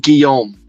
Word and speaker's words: Guillaume: It's pronounced Guillaume, and you could say Barnaby, but I'm presuming it's Barnabé.